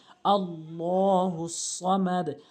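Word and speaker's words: اللَّهُ الصَّمَدُ: আল্লাহু আহাদ আল্লাহুস সামাদ আমরা যে জায়গাতে বেশি ভুল করি সেটা হচ্ছে আল্লাহ আল্লাহুস সামাদ বলি আল্লাহ হবে আল্লাহ শব্দের ডান পাশে জবর এবং পেশ থাকলে পুর হয় আর আল্লাহ শব্দের ডানে জের থাকলে বারিক হয় মানে পাতলা হয় এখানে পুর হবে আল্লাহুস সামাদ হামজা লাম জবর আল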